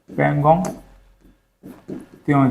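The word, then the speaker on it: Pangong Tso: ये जो त्यों लिखा है ना, ये TS तसों ऐसे कुछ लिखाता है ना, टी साइलेंट आता है। हाँ, पेंगोंग त्यों ऐसे कुछ रहेगा।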